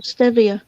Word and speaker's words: stevia: stevia now it's like am i saying that right like s-a-t-i-t-i-v-a or s-t-a-i-v-a s-p-e-v oh yeah stevia stevia okay i'm just making sure